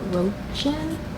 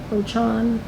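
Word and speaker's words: Rochon: is Almost There, A Twisted Tale by Farah Rochan. That's how you say it, Rochan.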